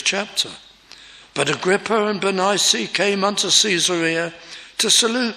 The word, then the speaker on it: Bernice: days Ag grippa and Beni well that's our classical pronunciation people bearing this name prefer to be called Bernice today maybe that's how I